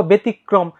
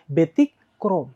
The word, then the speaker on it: ব্যতিক্রম: কি হলো ছাত্র অথবা ব্যতিক্রম দেখো এই যে কয় রয় ফালা এটা কিন্তু কয় রফালা যেহেতু কয় রোফালা তাই তোমার কি হইছে তোমার এই ক টা কিন্তু দুইবার উচ্চারণ হইছে ব্যতিক্রম তারপর নক্ষত্র যেটা তোমাদের